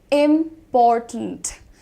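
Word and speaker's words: important: Simple सी बात को बोलने में पूरा खिलवाड़ हो जाता है उच्चारण के साथ। आपको ध्यान देना, इसको इस तरीके से बोलना है, इम्पॉर्टेंट।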